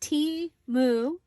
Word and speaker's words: Temu: Yes, so Temu, pronounced T-Mu, is an online marketplace that offers the most competitively priced products in multiple categories.